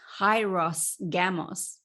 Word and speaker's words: hieros gamos: In English, you may say it, which is the anglicized version of trying to say the Greek words, is a hieros gamos.